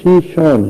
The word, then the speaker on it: شیشان: چچنیا اس کا اصل تلفظ نہیں ہے، اصل تلفظ شیشان ہے.